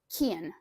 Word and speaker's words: Kian: get into the plot, how would you pronounce the narrator's name? Kian.